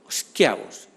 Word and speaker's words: Schiavo: Terry Schiavo, Schiavos, si hacemos la pronunciación italiana.